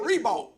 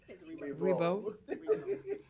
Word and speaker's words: Reebok: It's Rebo. so now, when did y'all start saying Rebo? It's pronunciation. He's French. So I know that, but we always just said Reebok.